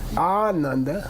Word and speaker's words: Ananda: If you say a long A, it means very happy. Ananda, got it? Very happy guy, this famous disciple.